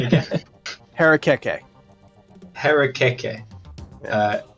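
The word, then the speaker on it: harakeke: ichang uh wait can you say that other pronunciation again parakeet harekeke uh h a r a k k e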